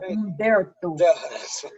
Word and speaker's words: Umberto: I love his first name, Umberto. I want to know how many people try to pronounce that H in his name. Umberto. No, it's I can't roll my tongue like for some reason.